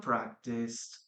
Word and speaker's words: practiced: Practice, letter D, and practiced here. Okay, practice, letter. Okay, we don't pronounce the letter E, please remember. Keep that in mind.